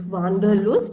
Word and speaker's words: Wanderlust: Yeah, and this word Wanderlust, in German it's pronounced as Wanderlust, okay? So we, in English, we say it's Wanderlust.